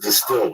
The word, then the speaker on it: DSTLD: apart or look terrible dstld d pronounced distilled offers luxxury gray denim